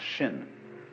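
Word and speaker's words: 心: please pacify my mind in Chinese mind is um this word pronounced shin and shin is here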